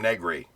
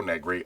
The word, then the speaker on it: Negri: another show uh if you remember handyman Jim negri yeah I'm also sorry I mispronounce it it's actually Joe negri I knew that but if You' watched my